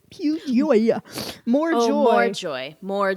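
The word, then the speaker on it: Più Gioia: I said Piu Gioia, but it is Piu Gioia, which I think means pure joy, if I'm not mistaken.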